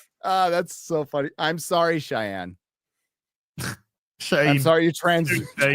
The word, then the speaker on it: Cheyenne: It's Cheyenne, not Shane.